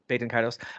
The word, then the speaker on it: Baten Kaitos: Baten Kaitos into that's Baten Kaitos.